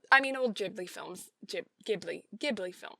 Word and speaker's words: Ghibli: mean old ghibli films ghibli ghibli film it's a hard g right it's a gibbly not a ghibli because if it was a ghibli it would be jay ghibli right i don't know